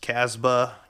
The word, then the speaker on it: Casbah: itself might be pronounced casbah casbah casbah I don't know if you really pronounce the B but that's the name